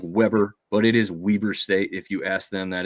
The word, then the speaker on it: Weber State: rival JMU, who crushes Weber State. It looks like Weber, but it is Weber State. If you ask them, that is how they pronounce it, almost like it has 2 E's in there.